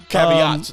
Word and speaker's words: caveat: Another caveat. Now that I learned that word, how to say it right. Caveat. Because you said caviar. I said caviar before. Motherfucker.